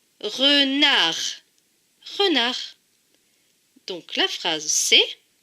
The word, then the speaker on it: renard: Le D ne se prononce pas puisqu'il est écrit en bleu. Donc ce dernier mot se lit re, na, r. Renard.